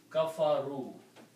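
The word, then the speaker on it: كَفَرُوا: Now if we put a vav and alif after that, it becomes the plural. Okay, and you pronounced as kafaru.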